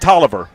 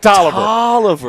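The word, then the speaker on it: Taliaferro: They pronounce that Toiver. And I'm not making that up. They pronounce it Tiver. They kill They just kill the O and then they just mangle the middle and it's Toiver.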